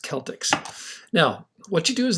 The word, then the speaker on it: Celtx: like when you first open up celtics it's pronounced celtics now what you do